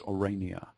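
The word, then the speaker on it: Oranje: you about her name was orania and orange pronounced properly in the Dutch is orania and it means not just orange of course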